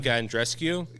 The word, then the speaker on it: Bianca Andreescu: Bianca Andreescu.